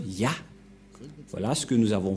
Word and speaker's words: Yah: Cette forme se prononce Ya. Voilà ce que nous avons vu tout à l'heure. Cette forme se prononce Ya, que vous venons de lire.